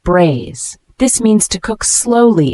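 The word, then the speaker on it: braise: quickly in hot fat the word brace spelled b r a i s e it's a verb pronounced braze this means to cook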